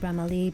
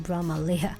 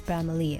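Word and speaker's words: Bramalea: bramalee I just knew that you're supposed to pronounce it brahmali because I was saying it wrong the whole time I was used to singing in Brahma Leah I thought it was brahmalia so it's bramalee apparently so far it was really smooth ride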